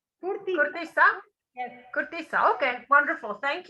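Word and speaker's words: cortiça: And how do you pronounce it? Curtiça? Curtiça. Curtiça?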